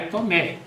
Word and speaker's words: Tomé: então foi suprimido H Tomé com H ou sem h é Tomé Tomé sempre foi escrito